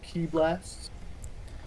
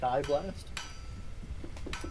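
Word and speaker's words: ki blast: oh this your like key blast no this is just a bolt of radiant light it's not a key blast idiot sorry the um the resident anime expert says it's pronounced Kai blast and then since I'm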